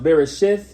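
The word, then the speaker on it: בראשית: Today we're going to be reading Genesis chapter 10, or it will be pronounced Bereshith in the Hebrew.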